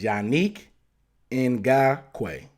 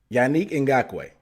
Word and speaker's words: Yannick Ngakoue: How do you pronounce it? I'm going to his Wikipedia page. Okay. According to Wikipedia, it's Yannick Ngakoue. Yannick Ngakoue.